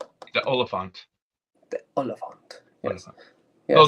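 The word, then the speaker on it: Oliphaunt: And it's what was needed to get rid of how's it pronounced? The Oliphant.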